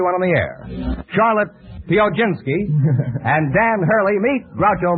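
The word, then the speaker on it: Piechocinski: with you uh Charlotte uh how do you pronounce your name pinski would you mind spelling it p i e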